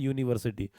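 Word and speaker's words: university: अब आता है विश्वविद्यालय को अंग्रेजी में क्या कहते हैं, यूनिवर्सिटी।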